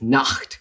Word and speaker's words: Nacht: We know that the German word for night is Nacht, which has this wieder fricative sound at the end.